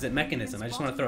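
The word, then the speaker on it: Mekansm: Okay, Lich himself pronounces it Mechanism. I just want to throw it out there in his actual, you know, voice commands or whatever. So I also say Mechanism, even though it's spelled Mechansum.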